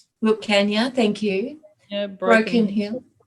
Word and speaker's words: Wilcannia: Her lineage comes through Wilcannia. Did I pronounce that correctly, Grandmother? Wilcannia. Wilcannia, thank you.